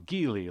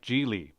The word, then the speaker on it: Geely: Come on, Geely like Geely.